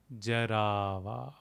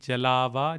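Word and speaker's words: जरावा: Lank Jarava. Lank Jarava. The L and R can also be interchanged like B and B. Jalava, Jarava is fine.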